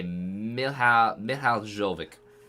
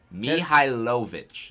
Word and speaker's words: Mihailovic: I'm going to say Michal Jovic. Okay. I don't think that's correct, but he's all the way from Libertyville, Illinois. So, oh, he just slid off. Mihailovic. All right. I figured out how to say it.